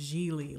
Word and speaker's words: Gigli: tomorrow my name is she pronounced it rhymes with really which i found funny